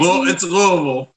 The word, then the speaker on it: Louisville: It's Louisville. Louisville. So you're saying it like you're slurring your words, like you're hammered already.